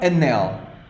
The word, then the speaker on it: anel: is masculine what about anel the last word anel anel I'm going to write it to divide into syllables a nail a nail the strong syllable is this one nail a nail it means ring a